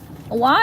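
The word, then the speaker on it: Hoa: Wa in Vietnamese means flower, actually, but not spelled W-A. It's spelled H-O-A. It means flower, but it's pronounced like W-A, like Wa.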